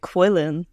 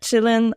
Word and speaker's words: Qilin: been trying to do I've actually been saying it quillin so a third option the whole time up until yesterday when we we decided on pronunciation but yeah Chillin I think the name